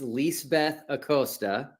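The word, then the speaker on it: Lisbeth Acosta: pronounce your name right so it's leis Beth aosta and if you want you can use lease for short lease Beth aosta ah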